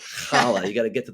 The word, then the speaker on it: challah: notice Chala you hear child a lot from the boys but uh simple thing like that just letting the world know it's pronounced holla you got to get